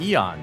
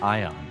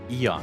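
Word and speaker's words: Aeon: of the Eon Arana Eon not ion okay Eon the a is silent good to enough oh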